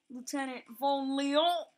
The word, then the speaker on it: Lieutenant Vonlion: And I named it Lieutenant Vonlion. Well, I'm gonna make this character a girl. But I decided that it'd be pronounced Lieutenant Vonlion.